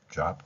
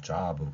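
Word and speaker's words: job: 아가 섞인 발음 그런데 비의 받침을 소리 내지만이 잡 같은 경우는 자브 그러지 않고 보통은 잡 이렇게 나갑니다 그다음에 사브 사브 흐느끼다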